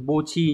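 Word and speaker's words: 墓地: Còn âm ghép đọc là bo, ví dụ chúng ta có từ bo chi nhá.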